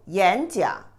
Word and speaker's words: 演讲: When two third tone characters together, you always pronounce the first character, the second tone, not the third tone. 演讲, not 演讲.